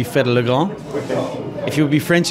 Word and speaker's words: Fedde le Grand: It depends on where you're from. So if you would be Dutch, but like I am, it would be Fedde le Grand.